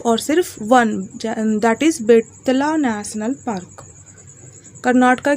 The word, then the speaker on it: बेतला: झारखंड में सिर्फ और सिर्फ बेतला, बैटला जो बोल सकते हो, लेकिन इसका शुद्ध उच्चारण है बेतला।